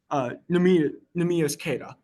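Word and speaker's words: Neemias Queta: Because now Nimas Keita, I think that's how you say it, or Nimas, or Namis, Nimas, I think. Let me double check. I'm going to, uh, Namias, Namias Keita. Okay, I'm fucking up the first name.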